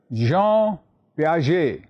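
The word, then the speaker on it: Jean Piaget: his name name was recollect yes that's right Jean P please remember the correct pronunciation Jean j e a n as you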